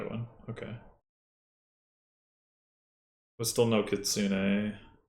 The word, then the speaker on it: kitsune: But still no Kitsune. It's kitsune. Says who? The internet.